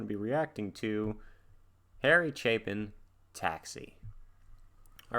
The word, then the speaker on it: Chapin: was gonna say um i had to go look up how to pronounce his name um because i thought it was harry chapman and chapin so i apologize i